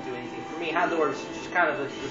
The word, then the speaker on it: Houndour: Actually, now that I think about it, its pronunciation's Houndour. I've always called it Houndour when I first saw it when I played Gold and Old and Soul Silver.